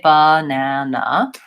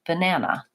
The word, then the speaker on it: banana: last syllables quickly, and they say the middle syllable longer. So I don't say banana, I say banana, banana. So the na syllable is longer.